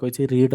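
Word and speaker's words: read: और past participle form रीड past participle form रेड spelling समान खाली प्रोनाउंसिएशन हेल्पिंग वर्ब कौन ना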